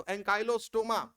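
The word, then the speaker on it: Ancylostoma: इसलिए उसका नाम हुकवर्म पड़ जाता है तो अनकाइलो स्टोमा क्या स्पेलिंग है अनकाइलो स्टोमा की ए अरे ए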